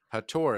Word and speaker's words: Hathor: of dendera which is the Temple of of hathor right hatur as it's pronounced if you look at the exact same